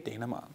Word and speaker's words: Dayna Himot: favorite pieces is DJ Dayna Himot. Good morning. Very good. You pronounced it correctly. Thank you. I was practicing in the mirror all morning. I was like, Dayna Himot.